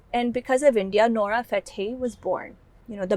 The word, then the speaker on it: Fateh: Yeah, so it's actually Fateh, Fatih? but no, Fateh.